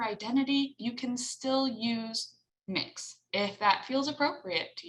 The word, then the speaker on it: Mx: popular one right now is mx and that's pronounced mix m i x uh and you can use